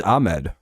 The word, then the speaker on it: Ahmed: to be ammed his it's literally ah m d unless it's pronounced akmed it's Ahmed right 39 out to the